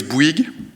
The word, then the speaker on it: Bouygues: So it's Bouygues, and we are actually, I think I have the pointer here.